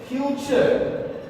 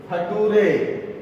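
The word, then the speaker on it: future: तो टी के आगे अगर यू आर ई आता है तो टी का प्रोनाउंसिएशन चर होता है. जिसको नहीं जानकारी है वो ऐसे पढ़ते हैं, नटूरे, फटूरे, मटूरे, कल्टूरे.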